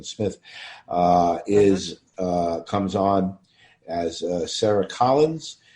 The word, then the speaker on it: Smythe: Or Sharon Smith, I should say. I believe she pronounces it Sharon Smith, comes on as Sarah Collins, the young sister of Barnabas, starting in episode 255.